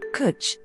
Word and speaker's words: Cwtch: This red ale is from an award-winning Welsh brewery based in Cardiff, Cwtch, which rhymes with butch, and means cuddle or cubbyhole, being what they won an award for.